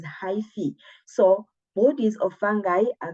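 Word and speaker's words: hyphae: that you call a high fee right this word will call it or we yeah we pronounce it as hyphi so bodies of fungi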